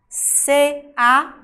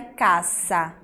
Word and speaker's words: casa: C-A-S-A. Quando a gente pronuncia, a gente não pronuncia caça, a gente pronuncia casa. Então, olhem que eu escrevo de um jeito, mas a pronúncia sai de outro.